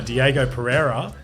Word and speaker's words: Diego Pereira: foreign professional MMA fighter Diego Pereira uh did I pronounce that right yeah that's yeah yeah perfect